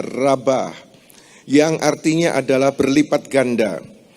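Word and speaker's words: רבה: Dalam bahasa Inggris multiply, dalam teks aslinya tertulis dalam 3 huruf Ibrani juga, yaitu res, bet, dan he. Bacanya adalah rabah, yang artinya adalah berlipat ganda.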